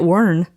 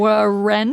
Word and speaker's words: Wren: And so I'm like, the W is silent. Y'all know silent They're letters. They're like, Ren?